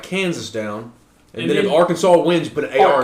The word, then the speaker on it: Arkansas: money loan real quick people actually say that our Kansas I mean a non-english speaker I mean that's how it should be pronounced yeah I mean that is but we all speak English here where does Arkansas come